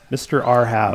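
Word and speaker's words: Mrrhav: There's simply not enough vowels to mispronounce that it's one. It's Mr. Urhav. Mr. Arhav. Mr. Arhav.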